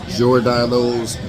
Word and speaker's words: Giordano's: It said Giordano's, Jor, like the O, the I and the O and the R just ran together, like Jor.